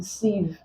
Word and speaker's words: sieve: therefore I is this word c is an exception the IE there doesn't contain the long e sound so let's take note of that the I.E in sieve agreed most words containing